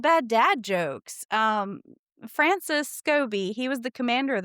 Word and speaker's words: Scobee: Was it Scobee cuz that's how I pronounce it? I believe it was. I believe they do call him Scobee, yes.